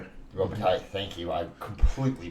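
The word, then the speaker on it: Robitaille: The original Candyman, Daniel Robotale. Robbit. Robbital. Thank you. I completely butchered that.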